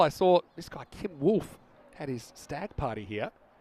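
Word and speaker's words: Wulff: How do you spell it? W-U-L-F-F. Wolf.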